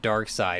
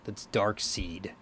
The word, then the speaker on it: Darkseid: And I said the term Darkseid, and he's like, no, man, that's Darkseid. And that dude was wrong.